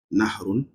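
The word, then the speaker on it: نهر: We have nahrun and then we have bahrun. How you can see, they are similar in pronunciation. Nahrun and then bahrun.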